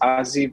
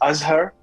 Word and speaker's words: Azhar: that you know uh people pronounce my name as Ozzy because my name is Azhar and Arabic it means thoughtful but in Tagalog it